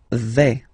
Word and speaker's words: vais: Okay, so remember, final S not pronounced here. Je vais. Okay, when you combine this A, I, you get the sound E, really open.